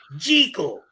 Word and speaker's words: Jekyll: I pronounce it Jekyll. Of course he does. So that it contrasts with Hyde. So Hyde and Jekyll. Or, like hide and seekle.